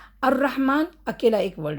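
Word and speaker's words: الرحمن: Direct अलिफ के बाद र पढ़ लिए। इधर भी क्योंकि शद्दा है ना हमने जॉइन कर लिए। अर रहमान लाम नहीं आया।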